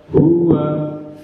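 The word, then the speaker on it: هو: Maka ketika digabung satu ketukan, maka huwa, ya gini, huwa bunyinya. Kalau membacanya itu masih lambat, huwa, berarti bukan satu ketukan, artinya ada tambahan di situ, tambahan panjang, ya. Maka pengucapannya adalah kurang benar karena dibaca panjang. Yang benar adalah satu ketukan karena pendek. Wawunya wa, digabung huwa.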